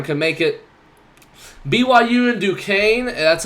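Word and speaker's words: Duquesne: Yukon or Auburn can make it BYU and duaine that's how you say it Duke Kane uh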